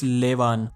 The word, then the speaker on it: Levan: And if you are still confused how to pronounce his name, it's Levan.